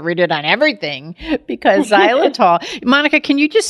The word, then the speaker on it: xylitol: You got to read it on everything because xylitol. Monica, can you just spell it out so people would know? Because it kind of, it spells out a little different than it sounds. Absolutely. It's xylitol.